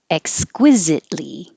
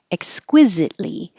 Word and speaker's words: exquisitely: r fixtures ricochet ricochet exquisitely you don't have to say the t in exquisite because your tongue is going to the l so you just hold it there exquisite li exquisitely that's the adverb and